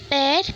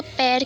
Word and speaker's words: pear: तो इसको पियर नहीं कहते, इसको पेयर कहते हैं. जो पहले हम इसको पियर कहते थे वो रॉन्ग प्रोनाउंसिएशन था. इसका राइट प्रोनाउंसिएशन है पेयर.